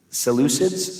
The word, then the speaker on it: Seleucids: and The Maccabees were fighting against the uh seleucids I think is that how you say it